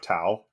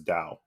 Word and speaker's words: Tao: So I think it's kind of how in Shintoism you have Tao, Tao, yeah. But you actually pronounce it as Dao.